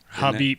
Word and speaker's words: Khabib: Yeah, but I think it's actually Khabib. Habib, yeah. Like the case.